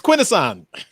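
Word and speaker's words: Quintesson: for entering yeah pronounce that was a trick it's quinasan well you know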